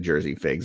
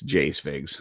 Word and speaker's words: Jay Figs: I think I said Jersey figs. It's Jay Figs.